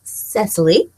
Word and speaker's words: Cecily: If you don't know how to say it, it's Cecily.